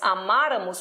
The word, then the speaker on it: amarramos: nós amarramos esse nós amarramos percebam que é um mar acentuado é um amarramos que é um verbo PR paroxítono por quê o acento tônico está no ma que é a anti penúltima sílaba tônica forte a primeira